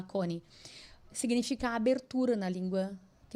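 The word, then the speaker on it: Chonae: Então é conhecido como a a o milagre de coni, porque coni, né, se se escreve c H o N a e conai, mas se fala coni, significa abertura na língua que eles falavam que eu acho que era a língua turca, né?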